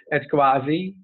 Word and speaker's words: CUAHSI: So it's meant some people have asked us to put explain how to pronounce it. So that's what they came up as CUAHSI.